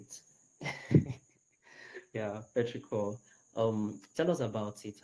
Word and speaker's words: Petrichor: I was struggling with the right pronunciation, so I needed to hear you say it. Yeah, Petrichor.